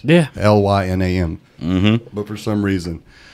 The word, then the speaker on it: Lynam: It's spelled just like it sounds. Yeah. Lynam.